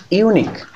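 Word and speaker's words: unique: খেয়াল করো এখানে কি বলেছে দেখো, তাহলে ইউনিক, ইউনিক শব্দের পূর্বে কেন আমরা হচ্ছে এ ব্যবহার করেছিলাম? কারণ ইউনিক আমার উচ্চারণটা যদি হচ্ছে ভাওয়েল, কিন্তু আমার কি হচ্ছে ইউ এর মতো উচ্চারণ হচ্ছে, এই কারণে কি হচ্ছে এ।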